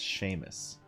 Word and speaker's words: Seamus: It's how it's spelled, but that's not how you say that name. It's an Irish name. It's Seamus.